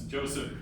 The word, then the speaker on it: Josip: It's kind of like Joseph? Yeah, it's Joseph. There we go.